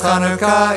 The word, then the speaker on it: Chanukah: In Hebrew the first letter of Chanukah is chet. Het? No, chet. Ket? No, chet. Maybe if I hear it in context. Here's how you say Chanukah.